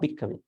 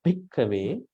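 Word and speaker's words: bhikkhave: Idang ko pana bhikkave, not bhikkave, bhik H sound, bhikkave dukkha samudayam ariya satcham. Because these H sounds are aspirates.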